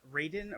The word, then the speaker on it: Raiden: But so Raiden is kind of like an amalgamation of two words, real quick. Rai, which means thunder, and Den, which means lightning in Japanese. So it's actually pronounced Raiden.